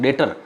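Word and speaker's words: debtor: ये DEB जो silent रहता है उसको बोलते हैं डेब्टर, नहीं बोलते हैं डेटर।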